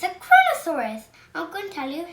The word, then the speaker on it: Kronosaurus: dancer is a sea monster and it's a kronosaurus i'm going to tell you how to pronounce it crow no sword us ponosaurus and it was a joy in dinosaur